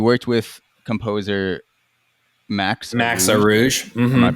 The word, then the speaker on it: Arouge: Noel sent me the deluxe album, and you worked with composer Max Max Arouge. Arouge. Am I Mm-hmm. pronouncing it? Max Yeah, Arouge.